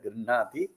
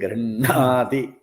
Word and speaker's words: गृह्णाति: grihnati, you have to, the stress is on the grinha. So we have to be careful that we don't stress the gr. So gr is soft. Dadati prate grihnati. Gr should be soft.